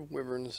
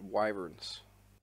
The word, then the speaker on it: wyvern: So there are four wyverns in this room, or sorry, wyverns. I've learned that they are pronounced wyverns.